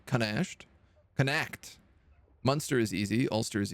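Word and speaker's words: Connacht: Canash, ignore the CH and treat it like a K. Canashed. Canact.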